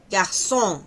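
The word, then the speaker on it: garçon: Ah, bueno, el sonido de la Cedil es para una s larga, ¿no? Aquí podemos decir, por ejemplo, fran sino fran saa no es saba sino saba. Garsón no es garson.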